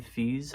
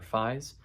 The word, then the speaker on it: Fies: So this is Brian Fees, I want to say, is how you say his last name, or Fies.